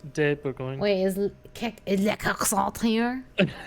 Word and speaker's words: de Bourgogne: What are you I'm drinking Duchess du Bourgogne. I'm definitely pronouncing that wrong. Oh, it's de Bourgogne.